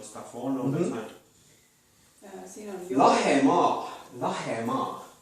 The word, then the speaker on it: Lahemaa: Lahemaa. Lahemaa. Is that Lahima? Lahemaa. Lahima is almost.